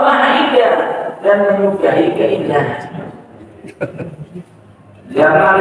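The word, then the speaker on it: جمال: indah dan menyukai keindahan Jamal itu mnya panjang ya dibacanya kalau dibacanya pendek Jamal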